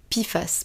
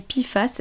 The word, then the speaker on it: PFAS: tout ce que c'est donc les pifas ça s'écrit PF a S et c'est un acronyme on peut dire ça